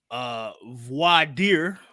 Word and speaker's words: Voir Dire: Sir, album of the weekend for me, Voir Dire.